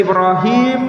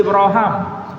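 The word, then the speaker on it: إبراهيم: Anda bisa membacanya sebagai Ibrahim, Anda bisa membacanya sebagai Ibraham, tidak perlu berdebat.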